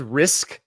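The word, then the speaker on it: Rizk: comfortable about M his his last name is risk it's spelled r r i z k but he was awesome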